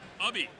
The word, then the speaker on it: Ubi: Green guy is Ubi, but the U is more of an up. Ubby. Oh, Ubby. Gotcha. Like hubby.